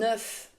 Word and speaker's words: œuf: Un œuf, des œufs. Attention à la prononciation. Au singulier, on prononce le F, un œuf, mais au pluriel, le F et le S sont muets, des œufs.